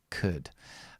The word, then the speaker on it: could: So, very important, the pronunciation of could. Okay, and the way to pronounce this word is very, very quickly and join it to the next verb here, which is do.